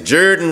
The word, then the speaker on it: Jordan: the Jordan River oh let me say it like the old old country folks you say Juran River watching them March into